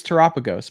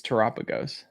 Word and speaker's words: Terapagos: I think if I'm correct, it's pronounced Doshboon, I think is how it's pronounced. I could be wrong. Okay. Oh no, it's Terapagos. My bad. I'm dumb. It's Terapagos.